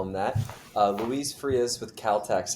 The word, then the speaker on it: Luis Frias: Uh, Luis Frius with Calteex. How are you today? Doing good. And yourself? I'm doing well, thank you. Did I get the pronunciation right? Yes, sir. Luis Fas.